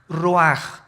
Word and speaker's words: ruach: El ruaj que se escribe r u a c h ruach en el hebreo y se pronuncia igual roj.